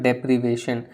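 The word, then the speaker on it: deprivation: बट यहाँ पे भी एक इंटरेस्टिंग चेंज हो रहा है प्रोनाउंसिएशन में। सो यू से डिप्राइव एंड आप यहाँ पे बोलते हो डेप्रीवेशन। सो डी एंड डे का डिफरेंस आ रहा है एंड इस तरह का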